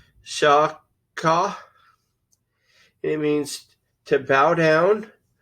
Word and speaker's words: שחה: Now, the literal transliteration of this word is shachah, which is pronounced shaw-khaw.